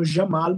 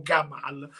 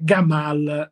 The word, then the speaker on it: Gamal: sintassi e nella pronuncia in Egitto loro non pronunciano Jamal ma dicono proprio gamal con la G pesante per cui è giusto dire gamal Nasser Lui faceva parte del